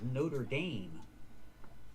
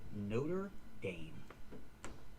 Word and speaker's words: Notre Dame: is called the Notraam Cathedral. Dom, not dam. And this is a university and this is spelled the same but we pronounce it differently. It's in the United States. It's called Notre Dame.